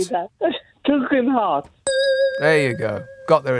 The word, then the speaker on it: Tugendhat: Say Tug. Tug. Heart. Yeah, but how could Lindsay say that? Tugendhat.